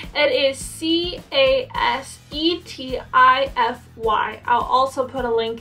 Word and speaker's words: Casetify: copper background, and I got my case at Casify. I think that's what you call it. I don't even know how to pronounce it.